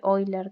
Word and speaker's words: Euler: número que se conoce es número de hoy leer también se conoce se escribe euler por eso es la